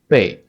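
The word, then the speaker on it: 背: indicates that this culture the pronunciation is something like Bay right but it has it is a fourth tone Bay back is the back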